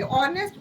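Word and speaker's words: honest: नहीं आएगा क्योंकि ऑनेस्ट ओ से मतलब एच है. एच साइलेंट है यहाँ पे.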